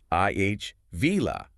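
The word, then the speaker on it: Ávila: But the correct Spanish pronunciation is actually I va with the emphasis on the first syllable.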